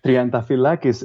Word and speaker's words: Triantafyllakis: I don't care uh trianta fakis is the right way to pronounce it but please don't bother